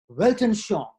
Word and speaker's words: Weltanschauung: The Germans have a very interesting expression, Weltanschauung. And they pronounce the W like a V, which is just fine with me because I pronounce my W's like V's too, okay?